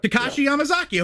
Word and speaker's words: Takashi Yamazaki: I'm gonna try my best, but Takashi Yamazaki. Did I get that right? That's right. Takashi Yamazaki. Okay, I pronounced it right.